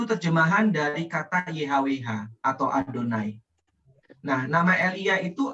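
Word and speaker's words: יהוה: membacanya ya Beb tapi kalau yhwh itu dibacanya adonai Nah kalau kita ih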